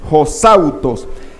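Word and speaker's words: ὡσαύτως: ejemplo, en Mateo 20:25, esa palabra hosautos, aquí la tenemos en griego, y aquí la tenemos como se pronuncia, que es omega, sigma, alfa, upsilon, tau, omega, sigma, deletreándola, pues, hosautos.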